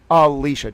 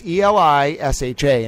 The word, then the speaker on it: Elisha: Alicia. It's Elisha, and if I'm pronouncing that wrong, you just let me know.